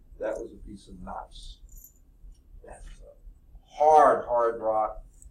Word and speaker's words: gneiss: No, it's nice. The G is silent, okay?